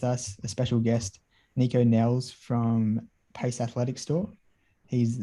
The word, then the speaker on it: Nelles: said it again uh did last name nico nels is that it yeah that's it yeah yeah awesome it's very good pronunciation no way yeah yeah i should have